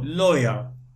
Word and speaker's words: lawyer: Okay, here we have double C, accountant, we have double C, and A in lawyer, we don't say la, we say lawyer.